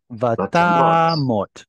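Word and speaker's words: וַתָּמָת: This little symbol tells you to put the stress here. That means you have a closed, unstressed syllable. How do you pronounce this word? Vatamot. Vatamot. Exactly. That's Kamatz Katan. So this here at the end is Kamatz Katan.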